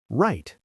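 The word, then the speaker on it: write: When W comes before R at the beginning of a word, always silent. Right. W R I T E. Right.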